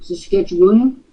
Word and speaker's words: Saskatchewan: Saskatchewan. Don't you dare pronounce that extra symbol at the end. That'll identify you as a foreigner.